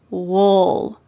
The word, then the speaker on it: we'll: You can say this contraction very clearly. We'll. We plus will is we'll. But in fast American English, we often reduce this in a relaxed way, and we say wool, wool. This is similar to these other contractions as well, like you'll, you'll. Instead of saying you will, we say you'll, you'll. And same as we will, wool.